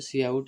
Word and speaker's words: cout: See out pronounced see out is an object used to uh used together with the insert insertion operation to output printed text.